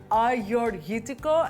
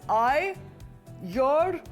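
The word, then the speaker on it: Agiorgitiko: Learn how to say it, Ioannina, and I've always loved a little trick, which is Ioannina.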